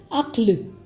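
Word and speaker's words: عقل: कर देते हैं और हम इसको अकल या हुक्म या सब्र या असल कहते हैं, लेकिन इनकी करेक्ट प्रोनाउंसिएशन अक्ल, हुक्म, सब्र और असल है।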